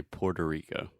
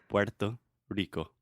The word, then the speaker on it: Puerto Rico: Puerto Rico thank you so in English generally we say Puerto Rico can you try to